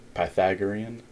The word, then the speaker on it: Pythagorean: there so that's okay again the way to pronounce that is like this you would say pi Oreo and Pythagorean I'm the o r M so again Pythagorean theorem is what we're talking about again the